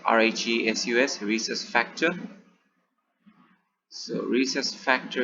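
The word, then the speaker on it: Rhesus: special type of antigen so it is pronounced as rhe sus resource factor so recess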